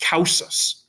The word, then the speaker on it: cum ausis: You blend the words together, and this is going to be pronounced causus. Okay, as if it was one word, because cum ausis doesn't really fit.